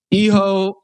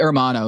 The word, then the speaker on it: hermano: Yeah, eho No, eho Hermano is the right way to say this.